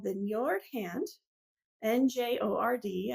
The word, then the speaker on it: Njord: So this color is called the Njord Hand, Njord. I'm assuming that's how you pronounce it, Njord, because that's how you pronounce fjord, which is the same spelling except with an F.